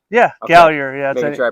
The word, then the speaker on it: Gallier: uh gallier yeah gallier yeah that's where I pronounce that interesting name yeah French ish yeah it's actually gal yay if you're gonna if we're like correct we're really gonna get French so tell me about